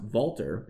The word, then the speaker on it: Walther: Think of the arms manufacturer Walther. It's actually pronounced Walter in German.